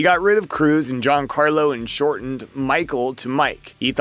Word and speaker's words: Giancarlo: He confirmed this when he said, "No one could pronounce it right. Everyone thought it was two words. Giancarlo, Juancarlo, Giancarlo. You have seven periods in school, so seven times a day. No, that's not the name."